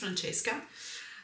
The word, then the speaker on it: Francesca: the times in which her name has been mispronounced, it always makes me laugh so hard. But yes, it is Franchesca um Payi and it's the same illustrator as as the uh Unicos Journey Tarot.